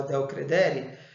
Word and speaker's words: del credere: Quando existe a cláusula del credere, ou cláusula del credere, como queiram, tá? A pronúncia é essa.